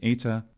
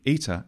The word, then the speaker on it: eta: for sure is that the ETA is definitely pronounced as a front mid vowel the other thing we can be certain about is that ETA is not a short vowel but a long vowel a phonemic long vowel this is commented all